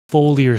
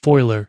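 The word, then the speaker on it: foliar: I'll let you go foler sprays or foiler spray I think some people pronounce it foiler some people pronounce it foler either way tomatoes tomato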